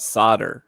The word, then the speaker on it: solder: mean i don't know i thought solder like you saw it right you you take the l and you throw it out the window it doesn't matter and